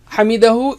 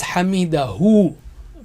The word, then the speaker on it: حمده: Hamidahu is made up of 2 words. When we stop, we say Hamidah, Hamidah. Okay, to pronounce the last ha. But actually it is Hamidahu.